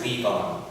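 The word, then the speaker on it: Léon: you'll probably hear him correcting the teacher for the millionth time about how to pronounce his name it's leave on and and then there's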